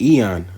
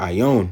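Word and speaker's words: αἰών: All right, Eon, or Ion as he pronounced. Okay, really it's Eon.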